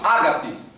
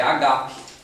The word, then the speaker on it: agape: Tem muita gente que chama ágape, mas o nome não é ágape, é agape. A tônica está na segunda sílaba. Entendeu? É agape, não é ágape. Só que convencionou-se falar ágape no português.